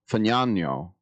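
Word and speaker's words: Fagnano: And they also have another undrafted free agent, Joe Fano. I have to pronounce it that way or I might get cancelled. It's f a g na n. And I believe that's the correct Italian pronunciation.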